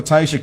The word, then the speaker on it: Teiyjsha: no but yes so the J is silent um so on uh